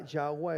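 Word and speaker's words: Yahweh: estás diciendo como yahua Quizá yahua es uno de los más aproximados a la manera como debe pronunciarse el nombre de nuestro Dios estamos es nuestro aliento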